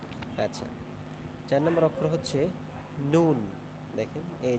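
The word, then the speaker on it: نَ: ফোঁটা থাকবে একটি আল এর উপরে একটি ফোঁটা নুন আমরা একটু বারণ করে দেখি নুন জবর না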